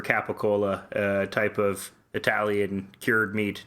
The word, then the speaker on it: capicola: into a piece of gabagool. And people thought. And what is gabagool for those of us not from the East Coast? It's the regional pronunciation for capicola, type of Italian cured meat, not dissimilar from bologna.